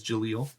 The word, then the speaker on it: Jaleel: So you do know, by the way, that his name is Jaleel. Yeah, I never got his name. What? How do you spell it?